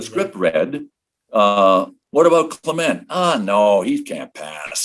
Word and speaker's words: Clement: well i don't know clement rhymes with cement and you could just